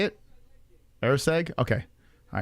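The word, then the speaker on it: Erceg: circle so far you should have round one air seg is that how you say it air seg okay all right so I was I was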